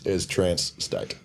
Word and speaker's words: Trancestate: The band name is Trancestate.